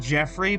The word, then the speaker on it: Joffrey: Like I I know that Joffrey uh can be pronounced Jeffrey, but also like Joffrey leaded sounds better to me.